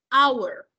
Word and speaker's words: hour: la palabra hora an hour esa H no tiene ningún motivo de ser ahí en sonido o pronunciación ahora nosotros pronunciamos o